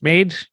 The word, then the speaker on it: MAiD: medical assistance and death the acronym for this is pronounced made maaid that's what we'll